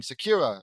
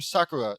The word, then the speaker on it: Sakura: By the way, I was absolutely saying Sakura's name incorrectly last video. I was saying Sakira or something like that, or is Sakira the right way to say it?